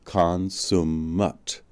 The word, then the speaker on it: consummate: I was 5 years a college graduate before I learned to pronounce consummate as an adjective, consummate.